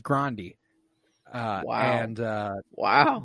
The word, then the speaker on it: Grande: not be that again like Ariana Grande is actually Ariana Grande what uh yeah like that's uh that's a real thing her name is Grande uh wow and uh